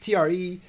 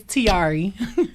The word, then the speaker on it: Tarie: fashion models we're talking tre she is the new face and spokes lady for bear skin usa i love the way you say my name real hey it's not right guys it's tiari i got you i